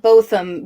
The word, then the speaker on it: Botham: a big little name it said both them when I looked up the pronunciation I feel like as